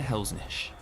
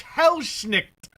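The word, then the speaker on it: Helsnicht: Dieter Helsnish, a powerful master necromancer. He's lightly armored. Who? Someone needed to run this guy through some of the pronunciations. It's Hellschnicht. It's Das Hellschnicht.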